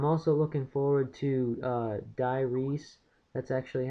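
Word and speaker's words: Die Rise: yeah and I'm also looking forward to uh diyes that's actually how it's pronounced it's not dures I thought it was dures the first time I took a look at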